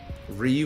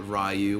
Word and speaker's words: Ryu: Ryu is objectively wrong, like you are going to correct Japanese people in their own language. Fair enough, fair enough. I think I used to call it Ryu when I was a kid. Isn't it pronounced something like Ryu? You have to roll your R's, bro.